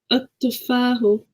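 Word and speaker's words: التفاح: So remember Tanya, the ta is a sun letter, so we don't pronounce the lam. At-tufahu.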